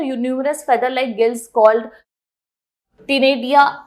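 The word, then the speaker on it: ctenidia: feather like gills called टिनेडिया are present, C silent आ गया, तो टिनेडिया present होता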